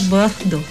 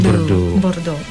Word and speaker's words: Bordeaux: Tulisannya Bordeaux gitu ya, bacanya Bordeaux. Bacanya Bordeaux.